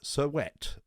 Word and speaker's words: Servette: pre-season friendly away against cervette serviette sir wet as it's pronounced uh in in german